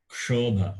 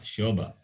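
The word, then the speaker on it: क्षोभ: So there, Desho yam kshobha, not shobha.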